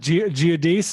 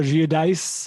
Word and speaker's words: Giudice: I think it's pronounced Giudice or Giudice. Is it? Thank you. I knew you know. Giudice. Is that it? It is. Oh, yeah. That's tough. They do they do the Italian Giudice.